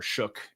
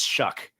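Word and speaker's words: Shough: I think it's a fun test for for Shuck and and uh or Shook and or No, it's Shuck.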